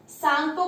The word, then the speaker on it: Tsangpo: और यहाँ पर इसे सांगपो कहा जाता है, TSANGPO। टी से स्टार्ट होता है, टी साइलेंट है यहाँ पर, जैसे सुनामी में टी से स्टार्ट होता है, टी साइलेंट, ऐसे ही सांगपो है।